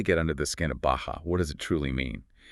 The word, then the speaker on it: Bahja: That's B-A-H-J-A, pronounced Bahja.